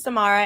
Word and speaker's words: Samara: So first of all, my name is Samara. It rhymes with tomorrow. I'll get it to you today. That's how you remember it.